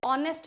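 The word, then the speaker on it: honest: पर मैं नहीं पढ़ रही हूं एच से। यहां पे ऑनेस्ट बोल रही हूं।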